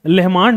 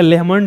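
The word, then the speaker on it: Lehmann: बीच में जो है यह है लेहमान डिस्कंटिन्यूटी या लेमन डिस्कंटिन्यूटी जैसे भी आप प्रोनाउंस करें गलत नहीं है लेमंस डिस्कंटिन्यूटी ठीक है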